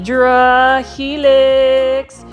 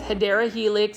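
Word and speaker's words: Hedera helix: this is the he hedra helix or the correct way to say it is hadera Helix English ivy for those that are new to this channel I always say hedra Helix versus hadera Helix it is an inside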